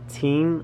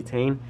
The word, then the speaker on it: Tein: I didn't know that's how you pronounce it. Other people say Tein, or you know, but it's actually Tein.